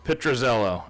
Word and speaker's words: Pitruzello: do you say your last name Zello petrozello and uh it's a beautiful shop it's been